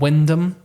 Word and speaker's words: Wymondham: spelled COSTESSEY, and there's a place near me called Wyndham, Yeah. WYMONDHAM.